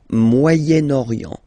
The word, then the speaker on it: Moyen-Orient: So it's interesting here because normally if you would have only this word here, you would pronounce it moyen, moyen, okay? But then as you've got this vowel after, okay, you get to make the liaison between the two.